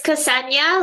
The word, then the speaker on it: Ksenia: It's Ksenia, like the country Kenya with an S, Ksenia. So yes, you did good.